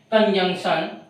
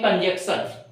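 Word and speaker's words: conjunction: कंजंक्शन, बहुत लोग बोलते हैं कंजक्शन। ठीक है, इसको बोले कंजंक्शन, इंटरजेक्शन।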